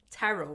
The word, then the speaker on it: tarot: So just for all you other uneducated bitches out there, the T is fucking silent.